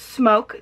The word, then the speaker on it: SMOK: is all about the smoke g80 and yes this is pronounced smoke the only reason some